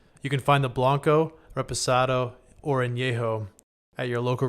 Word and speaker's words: Reposado: Reposado. Reposado? I thought there was a. If you can't I said, read- I said Resposado.